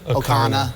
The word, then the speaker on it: Ocarina: Ocarina, thank you.